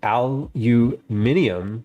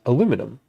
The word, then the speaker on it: aluminium: What caption people say aluminium because that's the name of the metal. There's no such thing as aluminum.